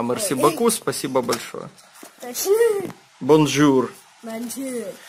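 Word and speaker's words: bonjour: Бонжур. Бонжур. Ну, ры они не произносятся, они так как-то бонжур.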